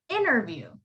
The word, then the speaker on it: interview: is before the t so when that happens you silent the t for example the word interview that's how you would